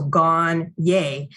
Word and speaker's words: Gagné: And I turned on the board and I wrote down Gone and then hyphen Y-A-Y. So Gone, yay. And I said, this is how you say my last name.